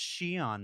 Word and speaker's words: Xi'an: and go immediately to comments and say it's pronounced xi'an mark get a better hobby oh i'll say